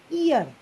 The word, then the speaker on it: ihr: So the pronunciation, I'm telling this IHR is pronounced as ear. Ear. Ear.